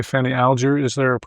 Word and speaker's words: Alger: A family member said it was Alger. Alger. And I never know how it's going to come out of my mouth. I mean, just because they say it Alger now doesn't mean they said it Alger back then.